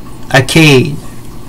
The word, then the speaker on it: Akkad: is also spelt a KK ad but the pronunciation is AEK a IDI acade the empire United Akkadian and Sumerian speakers under